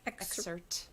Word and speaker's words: excerpt: excerpt is it excerpt do you pronounce the t i don't i pronounce the t but not the p myself excerpt but that's how i say it i don't know oh